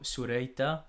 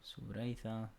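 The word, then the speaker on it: ܣܘܪܝܬܐ: Female, so sureyta or suretha. That's how you pronounce it. There you go, sureyta.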